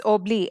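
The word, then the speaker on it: Obélix: to obli he said now in french it's obli x is silent so jaffa means what he is hungry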